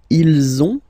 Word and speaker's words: ils ont: one, so same thing, if you can see, you get this final S and final S here, okay, and then you will have to make the little link between the two. Ils ont, ils ont, ils ont, okay, and then feminine form,